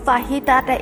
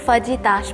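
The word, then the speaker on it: fajitas: দুটা কান্ট্রির থেকেই কিন্তু ফাহিতাটা এসেছে। ফাহিতা আমরা বাংলায় বলে থাকি, বাট যখন মেক্সিকানদের প্রোনাউন্সিয়েশনটা তো একটু ডিফারেন্ট হয়, তো তারা কিন্তু ফাজিতাস বলে।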